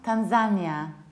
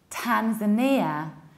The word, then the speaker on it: Tanzania: It's not Tanzania. Polish people usually say Tanzania because in Polish we say Tanzania, but in English we say Tanzania, Tanzania. In the American accent, it is also Tanzania, Tanzania.